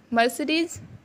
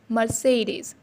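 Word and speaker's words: Mercedes: लोग सब क्लासिफिकेशन हैं अब इसको क्या बोलते हैं मरीज नो इट्स रॉन्ग मर्सिडीज से मर्सिडीज़ मर्सिडीज मर्सिडीज मर्सिडीज़ Benz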